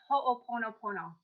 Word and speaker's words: ho'oponopono: how do you say that word you say ho'oponopono thank you yeah you're welcome additionally she healed